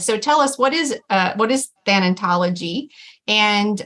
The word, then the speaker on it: Thanatology: And so I know you have a master's degree in Thanatology. Am I even saying that right? Is that the right way to say it? Yes, you are. You got it exactly right.